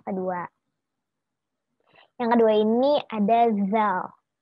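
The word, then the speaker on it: ذ: Yang kedua ini ada zal. Kalau kalian bisa baca, huruf awalnya itu DZ. Jadi kita bacanya zal. Zal. Zal. Lidahnya agak digigit gitu. Iya, digigit gitu di depan. Zal.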